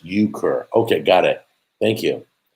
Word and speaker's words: euchre: into theology right now uh yookur oh it's euchre what is euchre i've done penny poker i've done pretzel poker we play pretzels of the family uh pronounced euchre okay got it thank you how was high